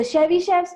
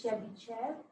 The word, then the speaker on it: Chebyshev: get the pronunciation because I want to say Chevy, I think it's Chebyshev, even though it's S-H-E-V at the end. I think it's pronounced as Chev.